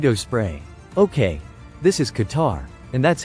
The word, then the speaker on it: Qatar: E R mosquito spray okay this is Qatar and that's how it's pronounced Qar was his first stop and